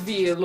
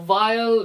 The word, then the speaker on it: Veil: Klonoa 2, Lunatea's Veal, or Vile, no, it would be Veal.